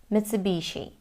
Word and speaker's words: Mitsubishi: Mitsubishi. So, American and British pronunciations are the same. In Japanese though, it sounds like two separate words and they say Mitsubishi.